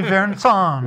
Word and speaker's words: Verrazano: But it's really Verrazano.